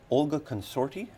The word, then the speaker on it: Olga Consorti: I'd like to introduce our first guest tonight, Olga Consorti. Am I pronouncing that right?